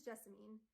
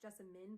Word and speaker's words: Jessamine: This is Jessamine. Technically it's pronounced Jessamine, but that's dumb, so we're calling her Jessamine because that sounds prettier.